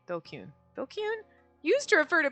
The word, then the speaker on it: DQN: DQN, Japanese net slang, pronounced dokun? Dokun? Yeah, dokun.